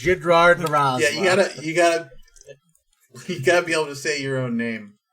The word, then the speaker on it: Jidrard Razla: It's pronounced Jidrard Razla.